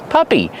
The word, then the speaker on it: puppy: Puppy. Use the short uh sound like cup and up.